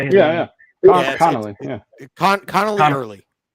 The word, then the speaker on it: Connelly Early: Connelly early.